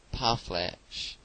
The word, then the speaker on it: parfleche: The word is commonly pronounced by Americans parfleche, with the accent on the last syllable.